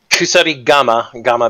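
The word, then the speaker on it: kusarigama: Kusari Gama being comma with a breathed syllable.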